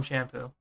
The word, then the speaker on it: Sampo: No, it's pronounced Sampo, right? Sampo. Sampo, yeah. You could also call him Shampoo.